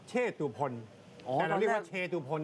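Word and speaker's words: เชตุพน: นั่น แหละ ครับ อื เขา บอก ว่า ออก เสียง วัด เชษ นะ ครับ นี่ ก็ เป็น อีก ภาษา ไทย ภาษา หนึง ไม่ ใช่ วัด เช เหรอ ไม่ ใช่ วัด เช ครับ วัด เชษ วัด เชตุพล แต่ เรา เรียก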